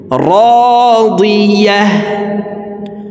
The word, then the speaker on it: راضية: গোলতা ওয়াকফের ক্ষেত্রে হার উচ্চারণ করব এবং হাকে সাকিন করে ফেলব। দেখুন এইভাবে শব্দটি পড়তে হবে, রাদিয়াহ রাদিয়াহ ফাহুয়া ফি ঈশাতির